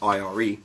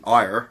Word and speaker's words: Ire: And I've been told that even though it's in block capitals and I would pronounce it as IRE because of that, it's actually IRE, apparently.